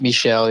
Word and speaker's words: Michel: He's French. I didn't know that." It's Michelle. Yeah.